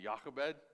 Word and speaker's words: Jochebed: I pronounce it Jochebed, Jochebed, Jochebed, Jochebed.